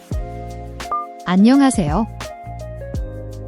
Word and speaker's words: 안녕하세요: Don't overpronounce it like a hard English H. Think of the H in honest.